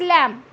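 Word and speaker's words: lamb: चलो next is लैम्ब. सो be again will remain silent here. B, इट्स लैम्ब, नॉट लैम्ब. Okay, not लैम्ब. बै नहीं बोलना है आपको.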